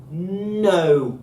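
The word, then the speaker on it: ν: And the way that I like to remember that is no, it's not a V.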